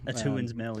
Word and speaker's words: Atuan's Mill: Atuan's Mill, yeah.